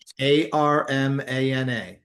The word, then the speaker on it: Armana: Armana.